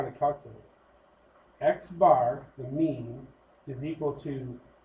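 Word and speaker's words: x̄: So right here it's pronounced x bar.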